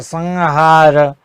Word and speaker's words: संहार: और अगर ह से पहले अनुस्वर आता है तो उसका उच्चारण अंग की तरह होता है, जैसे संहार, संहिता।